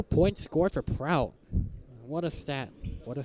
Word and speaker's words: Prout: Have I mentioned it's pronounced Prout?